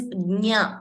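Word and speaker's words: ज्ञानम्: Jnanam, when you say knowledge, it is gnya.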